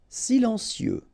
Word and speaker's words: silencieux: Silencieux, final X not pronounced, okay? This part here will be pronounced like cieux, okay? Then you get silencieux, silencieux. Prêt, final T not pronounced,